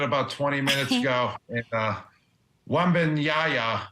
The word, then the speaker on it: Wembanyama: And Wembanyama, or however you say his name, right? Wembanyama. That's exactly how.